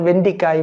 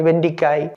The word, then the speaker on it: வெண்டைக்காய்: அதே மாதிரி வெண்டைக்காய் என்பதற்கு சொல்லும்போது வெண்டிக்காய் வெண்டிக்காய் என்று சொல்லுவார்கள், எழுதுவார்கள். வெண்டிக்காய் அல்ல, வெண்டைக்காய், வே இன் டை, நகரமும் லகரவும், வெண்டைக்காய்.